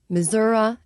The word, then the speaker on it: Missouri: through Iowa Nebraska Kansas Missouri missourah as I was taught to say as a kid and no one really says that you know in a word you're pronouncing it correctly but you sound like an we I know it's technically missourah but I won't say